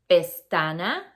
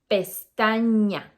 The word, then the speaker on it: pestaña: We don't say pestana, we say pestaña.